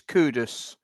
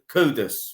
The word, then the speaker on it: Kudus: caduce is kind of I don't even know if that's pretty how he pronounce his name I think it's kudus yeah kudus right yeah you know I'm hoping